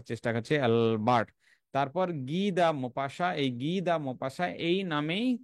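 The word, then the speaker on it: Maupassant: Rene Albert গিদা মপাস তো জানো মোপাসা মোপাসার বানান আলাদা আছে এম এ ইউপি এস এস এ এনটি বানান আর উচ্চারণ একটু আলাদা আছে তো হেনরি রেনে হেনরি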